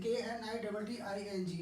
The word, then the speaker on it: knitting: KNITTING, इसमें K silent है.